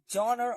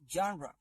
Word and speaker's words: genre: what about this genre genre don't say genre or generate its actual pronunciation is genre so what about this